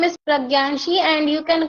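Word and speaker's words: Pragya: I don't know it's hard for me to pronounce it let's see nick name yeah ma'am my name is pranii and you can call me p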